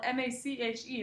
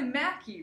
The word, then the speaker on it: Mache: My last name, a lot of people pronounce wrong. If they just see it spelled M-A-C-H-E, a lot of them say Matchy, or they say Mache, but it's really Mackie, right?